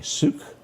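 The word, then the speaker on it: Seuk: That's just, he was 49 years old, and I'm going to do my best to pronounce his name. It's S-E-U-K, Suk. Yeah. We'll call him Suk.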